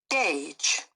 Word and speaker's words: gauge: I guess it's measure how is pronounced in United Kingdom Gage Gage in American nearly the same to calculate in an amount you can calculate an amount especially by using a measuring device gauge okay mm-hmm where were